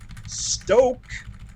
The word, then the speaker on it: Stok: out the list are stoke there's there's a long o on that uh international delight they